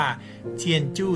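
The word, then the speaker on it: 天主: มี ตัว อักษร จีน ซึ่ง อ่าน ว่า เทียนจู้ ซึ่งก เป็น ภาษา จีน แต้ จิ๋ว แปล ว่า บ้าน ของ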